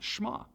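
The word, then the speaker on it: Shema: to hear or listen which in Hebrew is pronounced schma which is of course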